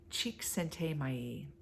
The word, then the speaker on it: Csikszentmihalyi: I always say his last name wrong. It's got more consonants than vowels. Csikszentmihalyi.